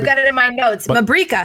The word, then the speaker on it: Mabrika: Mabrika. Mabrika. Like paprika.